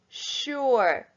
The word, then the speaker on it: sure: an n number six sure sh sorry s-u-r-e the s is making a tricky sound shh there number seven from